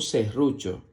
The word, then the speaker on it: serrucho: En la siguiente imagen observas un serrucho. La palabra serrucho se escribe con S-E, que suena C, doble R-U, que suena RU. Más fuerte la R, porque está doble. RU.